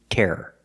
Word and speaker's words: terror: word is tear and the second word is terror terror or Terror if you say it fast but it's still two syllables the first word tear